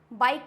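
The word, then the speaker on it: bike: For example बाइक। बाइक ही तो नहीं होता है, ओनली होगा बाइक।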